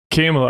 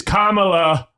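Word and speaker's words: Kamala: I'm like Trump and I said I'm not voting for for I thought I said it right. Camela. I was like I'm not voting for Camela. It is Kamla.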